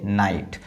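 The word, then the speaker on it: night: इसके पहले vowel letter है तो इसको पढ़ेंगे नाइट।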